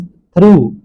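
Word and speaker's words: through: टी एच आर ओ यू जी H pronounce थ्रू, थ्रू।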